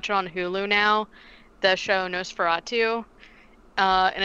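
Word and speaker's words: NOS4A2: hulu now the show nosferatu uh and it's spelled nos the letter four the letter a and then two like a license plate knows ferrara too and it's based on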